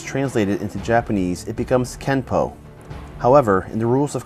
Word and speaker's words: Kenpo: this would mean that kenpo is technically spelled with an n but should be pronounced with an m through romanization it is